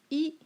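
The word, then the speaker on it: 一: So, yi, okay, it pronounced as yi, which means 1.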